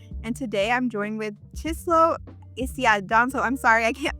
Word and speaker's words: Chisolu Isiadinso: It is pronounced Chisolu Isiadinso, but I tell a lot of people they can call me Chi, like the flat iron.